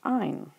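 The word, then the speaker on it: -yne: And if you are carbons and hydrogens and you contain a triple bond, you are an alkyne, and your suffix is Y-N-E, and it's pronounced "ine."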